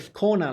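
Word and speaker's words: Skåne: the Swedish subscribers wow she pronounced Kona scanny it's a a but she pronoun like scona like a yeah learn more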